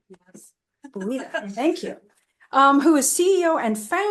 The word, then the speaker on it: Buitta: And Buitta, did I pronounce that correctly? Yes. Buitta, thank you.